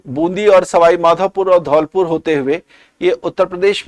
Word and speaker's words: धौलपुर: और कोटा से यह वापस से मुड़ती है और वापस से मुड़ने के बाद यह बूंदी और सवाई माधोपुर और धौलपुर होते हुए यह उत्तर प्रदेश में एंटर कर जाती है।